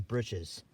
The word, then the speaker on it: breeches: pants on a clothesline the real name for them is dutchman's britches breeches now they spell it breaches even though we've changed the word in modern use to bridge which is like bridges what kids would